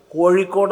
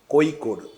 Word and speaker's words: കോഴിക്കോട്: പലയിടത്തും പറയാറുണ്ട് പലപ്പോഴും പറയാറുണ്ട് ഇപ്പോ ഉച്ചാരണ വൈകല്യം കൊണ്ട് ഇഴകാരം ഉച്ചരിക്കാൻ കഴിയാത്ത ഒരാൾക്ക് കോഴിക്കോട് എന്ന് പറയുമ്പോൾ കോഴിക്കോട് എന്ന് പറഞ്ഞു പോവുക സ്വാഭാവികമാണ് അത് നമ്മൾ ഒരിക്കലും കുറ്റപ്പെടുത്തില്ല കാരണം അയാൾക്ക് ഇഴകാരം വഴങ്ങാഞ്ഞിട്ടാണ് പക്ഷേ കോഴിക്കോട് ന്ന് എഴുതുക